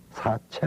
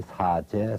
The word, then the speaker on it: 사제: 책장 제가 책 그래서 그 발음대로 우리가 읽으면 사제 설이 아니라 4 최 서리라 고래 사체 라고 해야 됩니다 근데 무슨 이유로 이걸